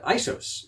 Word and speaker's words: ISO: from the Greek word isos, which means equal. All these years I've been spelling out the 3 letters when it's actually just pronounced ISO.